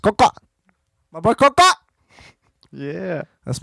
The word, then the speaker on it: COXO: You can also, if you're ever in Glen Ellen, Illinois, find some merch being sold at House of, I will just spell it out, COXO, pronounced Coca.